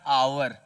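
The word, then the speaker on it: hour: लेकिन यहां पर आप जब इसका उच्चारण करते हैं तो होता है आवर। क्या होता है? आवर, अ आता है।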